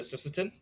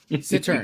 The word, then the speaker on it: cittern: Cittern. Because you Cittern. know it annoys me. Oh, it's a Cittern. It's a Sisseton. There's like no S in the word.